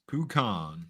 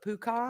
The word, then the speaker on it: pecan: Pukan. Pecan. On. I love that Mary Googled it for Google pronunciation.